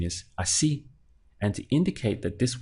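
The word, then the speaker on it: así: accent so obeying the default rule I would pronounce this as Aussie Aussie because I only have two syllables to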